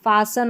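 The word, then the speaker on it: fasten: देखिए यहाँ पर ये फासन और हैसन में, तो यहाँ पर भी हमारा टी जो साइलेंट है, और क्रिसमस जो है ना इसमें भी टी साइलेंट है।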